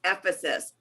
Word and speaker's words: Ephesus: know if it's not Ephesia, and I don't know if it's Ephesus or if it's Ephesus, I don't know how to pronounce it. So she's watching the class and she's listening to that, and she immediately calls me up and she says, I want you to know that it's Ephesus.